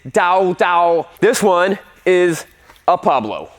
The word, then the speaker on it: TaoTao: the first thing being is how to actually pronounce the name of this bike it's not Taotao it's Tao Tao it's a Chinese its Dao Dao this one is a Pablo so when Caleb's